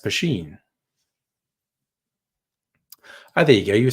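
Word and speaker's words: poitín: n depending who writes it but it's not pronounced ptin or poon it's pronounced pen oh there you go you speaking sindarin which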